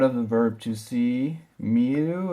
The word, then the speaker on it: 見: the verb to see meu it's pronounced me like you would say me to see okay I'll